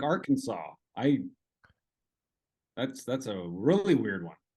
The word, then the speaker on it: Arkansas: It's like Arkansas.